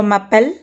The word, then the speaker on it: appelle: That means the endings o, os, and ont, these endings are not pronounced, and it is just the appel part that gets pronounced. So all these verbs have the same exact pronunciation, appel.